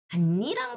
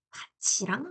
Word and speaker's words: 밭이랑: 바치랑 돼야 돼요. 알겠죠? 자, 그래서 똑같은 밭 이랑이라는 단어인데 이랑이 명사일 때는 반니랑 마름나고 이랑이 접속 조사일 때는 국의 음가 일어나서랑이라고 발음이 난다.